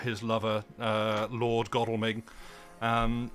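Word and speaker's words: Godalming: his lover uh Lord godelming um which I pronounced that way because I've heard other people from the area pronounce it I want to say God alming and it's like don't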